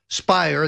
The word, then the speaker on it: Speier: Schiff and congresswoman Jackie Speier spire that Lert that rhymes with liar claimed alternatively that that